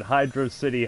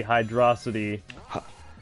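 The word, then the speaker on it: Hydrocity: When you play the game, that's how it is spelled. There's no space between Hydro and City.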